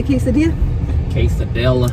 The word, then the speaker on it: quesadilla: I'm craving some tacos, yeah, and a, how do you say quesadilla?